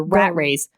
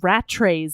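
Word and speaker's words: Rattray: yeah the rats also I pronounced it rat trays in my mind I don't know why so did I but they said rat Ray in the show and I you were going to like you were going to some me because I'm pronouncing the T wrong I wasn't going to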